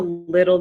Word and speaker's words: little: is look at how little this dog is she's a little girl she's a little girl so the two t's in the middle of the word little turn into d's makes a d sound little little the same